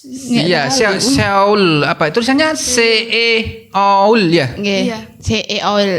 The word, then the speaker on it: Seoul: Itu bacanya gimana sih? Sul. Kalau sol kan sepatu. Iya, Seoul apa?